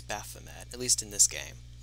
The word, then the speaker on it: Baphomet: have on right now bothamet so magic and recover stuff i keep saying both of them apparently it's baphomet at least in this